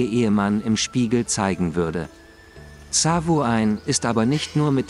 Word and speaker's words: Samhain: Das gälisch ausgesprochene Samhain wird Samhain geschrieben.